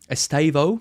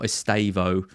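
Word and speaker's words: Estêvão: Uh I've been told off by Jordan Smith my um pronunciation um of Estavo. Estavo, I think is how you're supposed to pronounce it if we are to believe Jordan, not Estavo.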